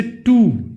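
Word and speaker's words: two: Silent W, जैसे टू, टी ओ, डब्ल्यू नहीं आ रहा है इसमें।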